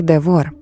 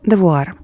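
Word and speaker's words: DeVault: Французи вимовляють його як девор, але вона наполягала на варіанті девуар.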